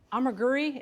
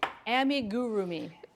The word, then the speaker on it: amigurumi: The the Armaguri is I don't know if I'm pronouncing that right. Um but it's Oh yeah. Okay. So, amigurumi amigurumi.